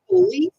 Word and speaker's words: police: Here we have police officer, right? Police officer. Pronunciation here, police. Okay, the stress syllable is the one in the middle here.